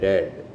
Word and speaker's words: read: Read red read red. Spellings are used the same but the pronunciation changes.